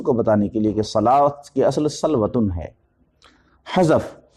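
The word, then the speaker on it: صلوٰة: دوسرا حرف لکھ دینا، جیسے صلاۃ، الف کی جگہ واو ہے، یہاں صلوات ہے لیکن پڑھا جاتا ہے صلاۃ۔ تو ہونا تو چاہیے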